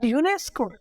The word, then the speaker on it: UNESCO: not an included but UNESCO u-n-e-s-c-o but I am pronouncing it together so these type of